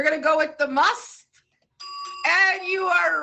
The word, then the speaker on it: musth: You're going to go with the must. And you are right. Somebody says the rut. Boom. You're not Thank you, Candy. Testosterone levels in an elephant in musk is spelled musth, by the way, you guys.